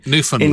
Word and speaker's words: Newfoundland: in is it newfoundland you struggle with putting the stress no it's stress on the last syllable don't throw me newfoundland in canadia pronounced canada